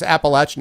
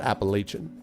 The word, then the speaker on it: Appalachian: remember and of course Appalachian is how they want you to pronounce not Appalachian but okay West is where